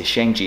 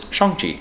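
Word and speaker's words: Shang-Chi: been saying it wrong we say shangji it is not it is chongchi which it was really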